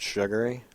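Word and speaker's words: Shaghoury: this's name is Andrew shagui s h a g o u r y chief of Tuftonboro okay I have a picture if you'd like one pronounced sugary it's I don't know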